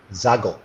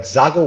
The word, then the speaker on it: Xago: really excited about is the new Aventador SVJ Xago. Now that Xago word, I think it's one of the easiest words to pronounce when it comes to the Lamborghini universe.